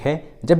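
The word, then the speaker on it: hedge: तो चलिए अब सीखते हैं लेटर डी कहाँ साइलेंट होता है। इसके लिए ट्रिक है, जब भी किसी इंग्लिश वर्ड्स में डी और जी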